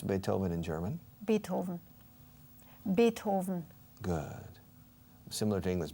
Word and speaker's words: Beethoven: Beethoven. Beethoven. Good. Similar to English, Beethoven. Do you accentuate the first syllable or the second? The first. Beethoven. In Spain, they say Beethoven.